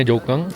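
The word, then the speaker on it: Jokhang: I'm sure ini bacanya Joukang, dari ini Ta Chao Si ya.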